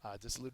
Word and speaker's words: dissolute: Dissolute is an adjective. First syllable is accented.